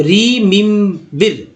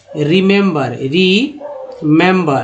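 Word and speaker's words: remember: देखिए ई को सब जगह ई पढ़ देते हैं, तो रीमिम्बिर ऐसा उच्चारण है ही नहीं, गलत उच्चारण हो जाएगा। लेकिन जो नहीं पढ़ जानते वो ऐसा कर सकते हैं, लेकिन इसका उच्चारण क्या होता है दोस्तों, रिमेंबर, रीमेंबर। यानी कि कहने का मतलब है कि पहला ई जो है वो ई के रूप में आया, दूसरा ई जो है ए के रूप में आया है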